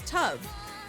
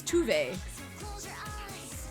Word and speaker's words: Tove: goes by T L so when I saw the name I was like oh her name is tub but then in the game they were like her name is tuve she pronounces it tuve herself yeah that's what saying exactly